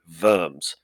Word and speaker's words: Worms: Emperor in the German city of Worms, not Worms, it's pronounced Worms. I'll say it again, Worms.